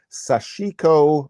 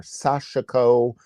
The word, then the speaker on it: Sashiko: And we can scroll through and see, oh, there's a whole category called Sashiko or Sashiko. I generally say Sashiko, but some pronounce it Sashiko. I think it's maybe Sashiko, but either way, we